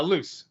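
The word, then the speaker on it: Luz: what's the name of the main character uh loose loose loose and Hunter are trapped in bellows's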